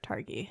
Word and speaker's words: Targi: What was the other one that I couldn't pronounce? It was Targi? Targi, yes.